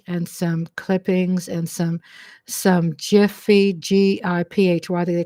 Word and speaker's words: GIPHY: Yeah, so I think they said you pronounce Giphy, Jiffy, Jiffy, Jiffy, Jiffy peanut butter, so Jiffies, which is like the little moving short pictures, it's like a couple seconds.